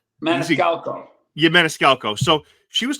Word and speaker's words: Maniscalco: Maniscalco.